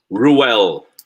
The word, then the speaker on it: Ruel: How do you pronounce it? Ruel.